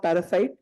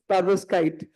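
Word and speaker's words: perovskite: other possibilities u I I normally go wrong in my pronunciation and I call it parasite. It's not parasite, it's parvoskite but I call it parasite in my head.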